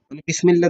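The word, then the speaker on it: بسم الله: আল্লাহর নাম দ্বারা বিসমিল্লাহি বিসমিল্লাহ দ্বারা বা আল্লাহর নাম বিসমিল্লাহি বিসমিল্লাহি আলিফটা এখানে উচ্চারণ হবে না মুসলিম আল্লাহর উপর ভরসা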